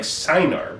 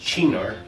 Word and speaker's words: Cynar: and i picked what looks like cynar but it's actually pronounced chinar it's 16.5 alcohol by